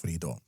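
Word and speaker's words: FreeiD: d free ID but it's pronounced Fredo next one dxyz of the bigaro group introduces Fredo facial recognition to apartments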